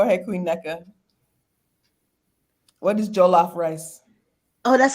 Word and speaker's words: jollof: I wanted to know, what is jollof rice?